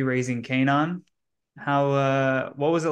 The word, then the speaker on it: Kanan: They're like raising Canon? can Canon? can Is there an yeah, accent I'm Canaan. missing? It's Kanan.